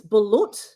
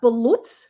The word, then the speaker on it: balut: There's in the Philippines, it's balut, which is chickens that haven't been formed in an egg.